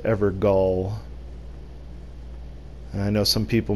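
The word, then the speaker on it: Evergaol: Is it pronounced Everjail? No, it is not. It's pronounced Evergall.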